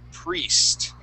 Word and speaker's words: priest: In this word, we're going to focus on the E sound instead of that I. We're going to focus on the E, and it will be a long E sound.